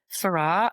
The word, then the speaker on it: Farrar: side and u my husband's family name which is far he pronounces Farah I pronounce it far either either or.